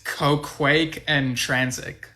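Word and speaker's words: Qoquaq Ën Transic: quack quack quack quack i know how to pronounce it it's ko quake and transit thank you that's a tongue twister and brain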